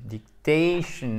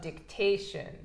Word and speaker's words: dictation: Correction, dictation, accent tonique avant le shun, toujours. OK? Correction of dictation.